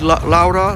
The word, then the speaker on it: Laura: And as I said, Laura, Laura would be the actual Italian pronunciation. But of course most know her Laura, but Laura Nicole Scherzinger